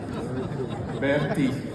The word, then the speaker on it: Bertie: My name is Bertie. So I thought to help Brandon next time, that's the way you say my name. Bertie.